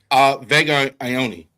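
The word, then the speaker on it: Vega Ioane: Vega Ione.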